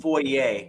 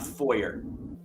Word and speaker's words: foyer: we're going to get into the French French pronunciations um it's called foyer not foyer yeah I got one of those yeah oh